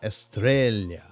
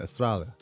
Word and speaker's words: Estrella: And Estrella. Australia. Good day. No, that's not the right pronunciation. Estrella.